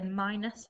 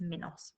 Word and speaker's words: Minos: was king minos okay you might say minus but i would pronounce it as minos okay and he lived